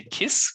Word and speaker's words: cis: opposite of trans and it comes from the latin which i realized this morning would actually be kiss like it's a hard c i'm a big note